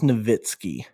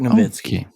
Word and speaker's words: Nowitzki: you saying novinski or nowinski uh so it's pronounced novitskiy dirk novitskiy dirk nowitzki i'm pretty sure it's navinsky i don't know maybe i'm wrong hey no